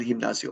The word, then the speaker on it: gimnasio: word gym and elio the G before uh an i is pronounced like an h and it ends in an oo it's masculine El gimnasio I'm going to the